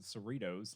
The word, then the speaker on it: Cerritos: also pretty sure that they pronounce it cerritos like doritos but with cerritos yeah i'm sorry and